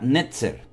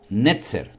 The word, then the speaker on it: netzer: la palabra vástago en hebreo es la palabra netzer netzer n e t Z e r netzer y